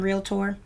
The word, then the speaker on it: realtor: being a realtor and note there's two syllables in realtor being a realtor means